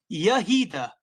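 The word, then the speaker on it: יהודה: What was the Hebrew pronunciation of Judah? Yahida. That is the pronunciation.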